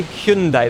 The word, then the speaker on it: Hyundai: it and they have I have to say Hyundai that's the correct pronunciation but Hyundai have a